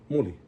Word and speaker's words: moli: Moli, because that's the second to the last, because there's only two syllables, right? Moli, right?